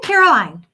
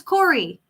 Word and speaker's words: Corey: I'm saying Caroline, and it's Corey.